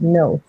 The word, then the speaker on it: Knowth: It was a 12-day trip, and we went to Newgrange and Knowth. I always call it Knowth, which is another megalith, and the Hill of Tara.